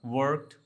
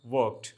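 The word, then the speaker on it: work: वर्क, वर्कड, वर्कड, right. यहाँ पे are silent रहेगा तो वर्क नहीं कहा जाएगा, इट्स वर्क, राइट।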